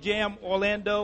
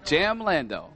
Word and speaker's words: Jamlando: You're from Jam Orlando or? From, no, say it right. Jamlando. Jamlando, okay. Now you got it.